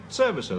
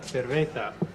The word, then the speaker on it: cerveza: Una cerveza. Gracias. That's how you say it, incidentally.